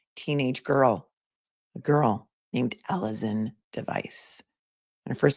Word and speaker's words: Alizon: actions of one teenage girl, a girl named Alison Device. And her first name is spelled Alizon.